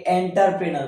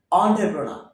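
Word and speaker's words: entrepreneur: এটা এডুকেশন পরবর্তী শব্দ আমরা এটাকে এন্টারপ্রেনার বলি এন্টারপ্রেনার কিন্তু আদত উচ্চারণ হচ্ছে অন্ট্রপ্র হবে অন্টারপ্রেনা নট এন্টারপ্রেনার অন্টপ্রেনা আমরা এটাকে এসেনশিয়াল বলি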